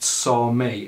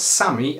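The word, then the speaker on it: Sámi: i pronounce this right i believe it's pronounced sarmay it's spelt sammy s-a-m-i but i believe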